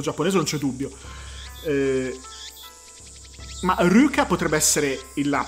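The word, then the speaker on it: Luka: Ma Ryuka potrebbe essere la pronuncia, però può comunque essere scritto Luca nel... E poi in realtà Ryuka, cioè la L pronunciata R, è tipica delle donne e dei personaggi effeminati.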